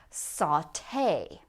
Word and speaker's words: sauté: But all these words are going to end in the sound A. Saute.